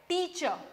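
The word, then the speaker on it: teacher: टीचर, अब इसमें आर नहीं बोला जाता है, दिस इज साइलेंट टीचर।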